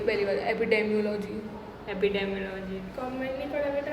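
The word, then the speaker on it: epidemiology: एपिडेमियोलॉजी होती है भाई। मैंने एपिडर्मियोलॉजी बोला है, क्या बोला? डर्मा एपिडर्मियोलॉजी होती है पहली बार, एपिडेमियोलॉजी।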